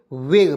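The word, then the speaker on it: vague: ए जी यू ई तो इसे क्या पढ़ेंगे वेग पढ़ते हैं ी ए जी यू ई क्या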